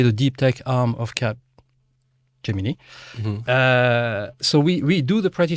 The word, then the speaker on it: Capgemini: Yeah, So Capgemini is the proper way of pronouncing it.